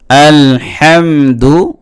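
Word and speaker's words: الحمد: যেটা গলার মাঝখান থেকে চিপা দিয়ে উচ্চারণ করতে হয় কিছুটা। আলহামদু লিল্লাহি এরকম অতএব এই হাটা ছোট হা যদি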